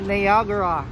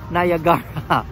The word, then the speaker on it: Niagara: ko lagay ng Tama niagra ayan yun pala ang tamang pronunciation ng ah ah niagra mga kaano no hindi niagra o hindi Niagara kundi niagra yon or nagaraya na